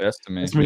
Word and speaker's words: Estime: Estime, yeah.